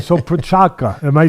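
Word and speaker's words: Procházka: why you got these names all right so prachaka am i saying it right now for chaka yeah all right so prachaka um next time i come over i want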